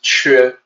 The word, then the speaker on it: 缺: 缺, and I know it doesn't look like the pinyin. The pinyin looks like it should maybe be sounded off like Q. It's spelled like Q. Well, this is another weakness in the pinyin system. The actual sound in Mandarin is 缺.